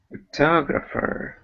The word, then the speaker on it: photographer: nouns here uh photographer photographer yeah second syllable stress photographer and photography photography yeah